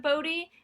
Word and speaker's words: Bode: was like hold up b-o-d-e what is that spell bode there's no y this is english if i spelled b-a-s-s i could just claim whatever you pronounce that as was wrong um yeah so that was that was the first thing you stuck with the show and then sometimes they do say bowed instead of bodhi and i'm like what